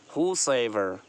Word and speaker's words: whosoever: Next पढ़ेंगे whosoever, whosoever, यहाँ पर डब्लू नहीं है और ह की आवाज़ आ रही, एच की आवाज़ आ रही, डब्लू साइलेंट है, whosoever, whosoever, ठीक है, यानी जो कोई भी हो, whosoever।